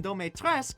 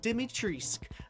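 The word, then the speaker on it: Dimitrescu: romanian she's probably romanian but the pronunciation dometress is the french pronunciation if she's romanian it should be pronounced dimitrisk again the accents anyway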